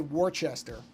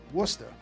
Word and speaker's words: Worcester: I know better than to say Warchester being that I am from the East Coast. I know that not to make that mistake. I don't know that I can do the pronunciation quite like a native because I'm not from Massachusetts, but yeah. See, but I know enough to I know enough to say that correctly. Worcester.